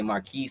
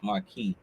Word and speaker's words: Marquis: It's like my name, Marquis, but people has it's the S on it. They say Marquis, Marcos, they say all type of stuff. It's Marquis.